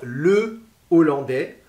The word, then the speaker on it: hollandais: Alors, le H aspiré, on va dire le hollandais, on va dire les hollandais.